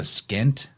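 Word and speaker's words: pschent: is depicted with it it's called The skint which is spelled PS c h n t so it has a silent p in there the skint it combines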